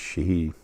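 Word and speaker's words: sidhe: it's s i d he e but it's pronounced Shi um excuse me um almost all of you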